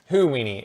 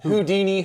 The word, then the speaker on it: Houdini: Houdini. It's Houdini Houdini. Jesus Christ. You can't pronounce that single damn name right.